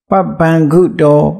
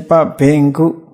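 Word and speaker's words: papañca: Then Panchakandi Papangudo Pasando. Papangu. Burmese pronunciation Bingu. But the international pronunciation just Papangu, not Ben.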